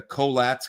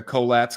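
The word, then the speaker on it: Collatz: don't know how to say this but the coats conjecture. Co o l l a tz the coats conjecture.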